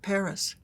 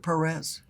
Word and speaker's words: Perez: um I noticed that the talk show host said Paris and I said she probably told them do not pronounce it Perez, you know, I Why else would they pronounce or stress the correct syllable if nothing else?